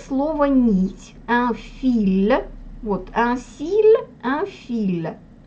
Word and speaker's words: fil: И слово «нить», «un fil», вот «un fil», «un fil».